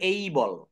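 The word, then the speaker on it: able: মানে সক্ষম হওয়া তো এটাকে এবেল বলা যাবে না যেহেতু এ রয়েছে এটাকে বলতে হবে এই বল এই বল দেখছেন ভাইয়া এখানে আপনি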